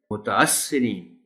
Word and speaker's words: متاثرین: ہو جاتا ہے، متصرین، متاثرین، یعنی یہ جو الف ہے اس کے اوپر زبر اور اس کے بعد سے پر شد کے ساتھ پڑھیں گے تو پھر درست تلفظ ادا ہوگا، اور لفظ ہے متاثرین،